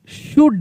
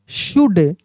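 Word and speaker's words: should: एस एच ओ यू एल डी शुड। कैसे पढ़ेंगे? शुड।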